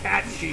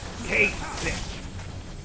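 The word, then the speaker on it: Cait Sith: for the longest time you kept calling it kate because that's how it's spelled i never heard anybody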